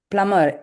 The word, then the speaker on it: plumber: Plumber, B. நம்ம பிளம்பர் சொல்லக்கூடாது. பிளம்பர்.